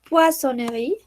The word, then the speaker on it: poissonnerie: Y aquí charcuterie, a mí me es difícil no pronunciarla, pero la dice muy rápido. Charcuterie, poissonnerie.